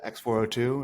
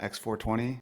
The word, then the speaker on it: X402: It's X402, it's not X420. Even though Elon probably wants it to be X420, it's X402.